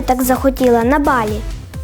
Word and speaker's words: Балі: в першу чергу розповім що всупереч поширений серед наших туристів вимові на голодослові балі ставиться на перший склад а не на останній продовжимо тримаючи цю інформацію